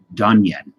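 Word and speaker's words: Dungen: It's pronounced Dunyan.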